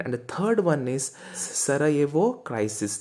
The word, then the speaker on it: Sarajevo: the third one is sara evo crisis jay is silent it's not sarah javo crisis it's sarajevo crisis if